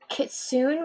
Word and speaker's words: Kitsune: Kitsune, which is like a fox. Yeah, it's actually Kitsune. That's how you should pronounce it.